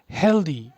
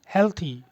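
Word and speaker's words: healthy: अगला वर्ड है हेल्दी। इसको हम लोग हेल्दी ही बोल रहे हैं, और है क्या? हेल्थी। एग्जैक्ट प्रोनाउंसिएशन क्या है? हेल्थी। हेल्दी भी गलत नहीं है, लेकिन ये इंडियन एक्सेंट है।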